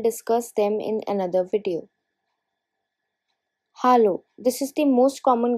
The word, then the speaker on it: Hallo: Hallo, this is the most common greeting used in all the languages, but you must notice the pronunciation difference. It's hallo, not hello.